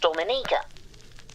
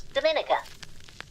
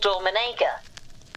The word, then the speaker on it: Dominica: brought up was a country which apparently is pronounced Dominica. I, like many, thought it was Dominica. And people are fine to correct and say, no, it's called Dominica.